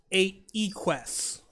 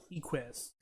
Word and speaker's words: Equus: Okay, I found the pronunciation. Mm-hmm. It's Equus. Equus.